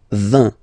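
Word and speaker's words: vingt: And the last one, so this G letter is here, but you don't pronounce it, okay? And then final T doesn't exist phonetically either, so basically you will only need to pronounce these 3 letters.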